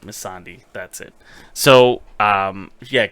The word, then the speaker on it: Melisandre: uh Melisandre right now misandry how do you say it Oh miss Andrews is Miss on d miss on d sure yes that's it zombie mi SS a and de i right miss on d that's it so um